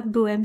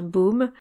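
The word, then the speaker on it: Böhme: Alors, merci à la personne qui m'a corrigé sur Bohème. Donc c'est pas Bohème, c'est bien Baum. Merci pour la prononciation.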